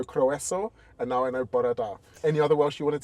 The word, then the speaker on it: Bore da: It's more like bore da. Bore da. Yeah, that's more like it. Bore da. I'm slowly learning Welsh. I know araf, I know croeso, and now I know bore da.